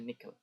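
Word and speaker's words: نِكْل: Ankal kemudian diterangkan dia adalah bentuk plural atau jamak dari nikel artinya ikatan bikasrin nun dengan mengkasrahkan nun bacanya nikel.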